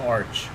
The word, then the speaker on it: Arch: I always get the fucking, is it arc? Big arch. It's the arch. Is it an arc? No, it's pronounced the arch.